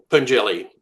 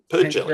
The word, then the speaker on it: Pengelly: You have Kirk Pengelly, if I'm pronouncing his name right. Pergelly, Pengelly, yeah, yeah, close.